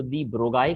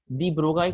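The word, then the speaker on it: de Broglie: दी ब्रोगाई कहते हैं, किसी किसी को जस्ट दी ब्रो कहते हैं। ओके, हर एक की अपनी अपनी सोच है। कोई कहता है एल साइलेंट है। अब एल साइलेंट है या साउंड है, उससे दी ब्रोगली को कोई लेना देना नहीं है, वो तो बेचारे चले गए। ओके, तो दी ब्रोगाई कह सकते हो, दी ब्रोगली कह सकते हो, इट्स ओके।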